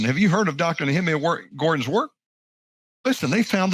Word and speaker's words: Nehemia: And look, my name is Nehemia. People call me Nehemia and Nehemiah, but it's still different than I like to say.